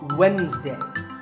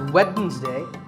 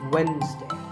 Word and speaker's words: Wednesday: of the week it's Wednesday the D is silent sometimes it's pronounced as Wednesday but the proper way to say it is Wednesday what about this word